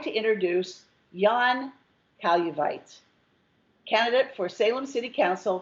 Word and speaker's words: Kailuweit: My last name is a little trickier. It's pronounced Kailuweit.